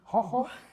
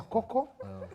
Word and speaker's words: Kho Kho: He has been saying hoho badala ya Kho Kho.